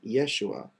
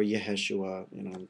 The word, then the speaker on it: Yeshua: those elements basically, and you get the name Yeshua, or Yeheshua. People say it differently, which is the Hebraic pronunciation for Jesus.